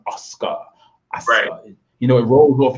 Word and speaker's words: Asuka: asuka right now right but we know it's pronounced oscar you know it rolls off your tongue like silk oscar oscar oscar what are your predictions oh people